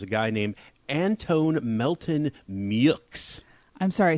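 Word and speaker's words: Meaux: main opposition is a guy named anton melton mux i'm sorry say that last name again anton melton mux how very american that a guy whose last name is spelled m-e-a-u-x is pronounced muyx that is interesting whoa yeah he's an attorney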